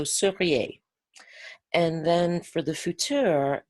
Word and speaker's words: seriez: Be careful to distinguish between futur and conditionnel. So if we want to take the verb être, the conditionnel is going to be seriez with an E. So seriez.